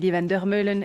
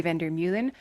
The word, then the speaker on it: Van der Meulen: do not know me, my name is Vander Meulen. It's how I pronounce it in Flemish French. I'm from Belgium originally. In English, it would be Vander Meulen.